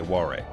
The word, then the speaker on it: Warwick: actually an example, but similar like Warrick is Warwick but you say Warrick except when you you